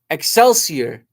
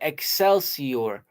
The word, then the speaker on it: Excelsior: Oh, excelsier. That's how you say it. Excelsior.